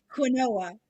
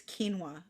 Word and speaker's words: quinoa: I always said quinoa, and I was like, for years, and my cousin's like, it's quinoa. I'm like, but it's spelled quinoa, and she's like, no, no, no.